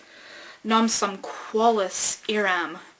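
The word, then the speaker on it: Non sum qualis eram: Well, we find out that it's Latin, and he's just kind of pronouncing it phonetically. So we have "Nam sum qualis eram," which means I am not who I was.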